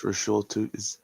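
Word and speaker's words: Bhayshul Tuten: I'm pretty sure I also butchered that. No, you got that one. It's Bushul Tootin.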